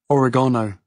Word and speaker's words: oregano: Oregano, or as the Americans say, oregano, oil, and turmeric.